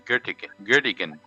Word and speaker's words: Göttingen: And I think it's pronounced Göttingen. In German, it would be Göttingen.